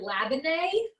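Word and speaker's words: labneh: oh it's called um i say lebna i don't know if that's right i've also heard lavendai so it's spelled a few different ways but l a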